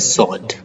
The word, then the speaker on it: sword: अब इसमें क्या है, SWORD, इसमें हम O को लंबा नहीं करते हैं, ठीक है? इसको हम क्या बोलते हैं, सॉर्ड, ठीक है?